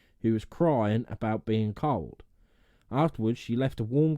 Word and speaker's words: Cauld: This developed into the title of The Cold Lad of Hilton that we know today. Or I imagine in like modern words, cold lad. Yeah. It's spelled Cauld. Cold.